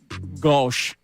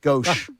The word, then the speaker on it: gauche: I thought it just in meant French is gauche. Yes, gauche. Or whatever. Strong Yes.